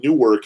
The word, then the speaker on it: Newark: And it is almost funny because it doesn't help that being confused briefly that in the native English of New Jersey, apparently Newark is one syllable.